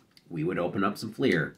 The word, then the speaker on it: Fleer: would open up some Fleer because it rhymes with beer and that just works